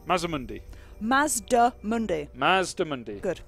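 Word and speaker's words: Mazdamundi: Could you do me a favour and say Mazda Mundi? Mazamundi.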